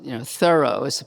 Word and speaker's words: Thoreau: and we look at, I guess we have to pronounce, this is Thoreau, we're supposed to pronounce it that way.